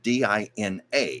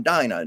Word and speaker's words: Dinah: her name is spelled Dina, and of course everybody would say Dina. And poor Dinah has had to go through her whole life going, no, I am Dinah, not Dina.